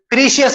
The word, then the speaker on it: precious: If you say जो लोग बोलते हैं आप तो precious बोलते लोग, तो precious 3 होते हैं. ऐसा नहीं है, 2 ही है.